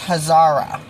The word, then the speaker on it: Khazar: called it and now the k i think is silent from what i heard her say so it's hazara um joseph hazara king